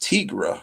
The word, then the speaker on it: Tigra: thought it was pronounced Tigra, I think is what I thought. I just didn't make the connection. I pronounced that long I sound, remember your phonics. Because she's a tiger, right?